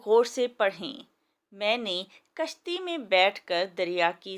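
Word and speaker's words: کُشتی: لفظ بن گیا کشتی، کاف کے اوپر پیش لگا تو لفظ بن گیا کشتی، یعنی زیر اور زبر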